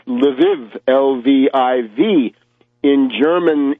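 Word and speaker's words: Lviv: this place called lvav now lvav is the Russian LV oov in Polish it's laav but l w o w in Ukrainian it's leiv lvv in German it's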